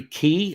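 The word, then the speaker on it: Quy: i'm concerned this what jerry key i believe is how you pronounce q-u-y um but i believe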